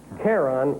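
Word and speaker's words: Charon: Karen. Kyron. Pronunci. Karon is right.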